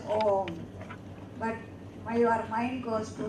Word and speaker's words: Om: Therefore, please, but don't say Aum. Don't separate the syllables. It goes as Om.